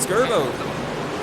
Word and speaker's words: Skirbo: Skirbo, is that how you say it? Skirbo. Skirbo. Yeah, the first try.